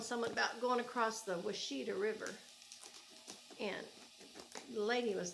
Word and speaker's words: Washita: It was Washita. In Oklahoma, we say Washita, but I guess in some states, there's a similar name somewhere else of a river, and they say it, Washita, spelled the same.